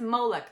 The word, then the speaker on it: Moloch: malok malok malok Mok it's m o l o c h malok I heard him say it in the movie and it was pronounced malok so so the next one I watched was called malar M moar moar M Mok mik mik it was pronounced molok I am so sorry okay